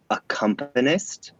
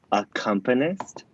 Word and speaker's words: accompanist: the person who plays the piano and it's pronounced accompanist everybody say it with me at home accompanist one of the most mispronounced words in musical